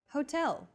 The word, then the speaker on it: hotel: instead of subway next Hotel see that in Portuguese H as the first letter is always silent except for specific foreign loan words for a specific Hotel